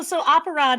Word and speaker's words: Operon: So Operon has the same Latin root as opera and operator. So however you pronounce those words, it's just oper and then on.